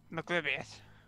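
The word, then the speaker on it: Maglubiyet: How do you pronounce it again? Maglubiet.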